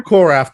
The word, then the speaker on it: Korath: how do you say Korath the Pursuer? Korath the Jaimin Pursuer. Hunsu? Yeah, exactly. Hansu, Yeah.